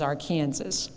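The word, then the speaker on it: Arkansas: that but I I know that the right pronunciation is our Kansas it was here that I began my interest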